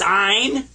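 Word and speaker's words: عين: is mine and I you kind of squeeze the back of your throat when you pronounce this one and I was told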